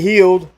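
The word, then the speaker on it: Hield: Let's got go Buddy to Healed, or Hild, I don't know how you pronounce it. Healed or Buddy Hild. Hill. It's Hill.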